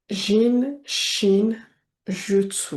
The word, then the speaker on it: Jin Shin Jyutsu: Et le jutsu en sachant que le u en japonais se prononce ou qu'on prononce pratiquement toutes les lettres. Jutsu jutsu. Donc jin, shin, jutsu.